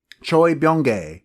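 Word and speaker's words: Choi Bounge: his name is Choy B Choy bong there we go that's how you pronounce it thank you Wikipedia I had seen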